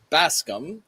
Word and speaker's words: Bascome: Is it Baskam? Is that how you say it? It's Baskam. Baskam. B is for Basum. A is for ask. I think you'll probably like that. And S is for scum.